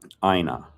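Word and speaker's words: أين: question word, which is Aina. I started writing it in dialect. I'll explain that in a second. A-Y-N-A means where. Again, A-Y-N-A, pronounced Aina. Just say it with Aina.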